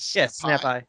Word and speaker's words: Snapai: Did I pronounce that correctly? It is Snap Eye. Snap Eye.